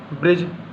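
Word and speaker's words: bridge: ब्रिज D silent है।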